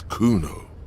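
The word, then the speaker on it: Cuno: it I did see how to say it's Kuno Kuno yeah the man turns to look behind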